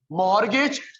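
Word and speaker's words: mortgage: Difference between मॉर्गेज, T silent है चाचू, मॉर्गेज नॉट मॉर्टगेज, मॉर्गेज।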